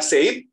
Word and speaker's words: said: Jadi bukan said dibacanya, tapi said. Sama dengan sedih. Hampir sama pengucapannya dengan sedih. Said. Jadi I-nya tidak diucapkan.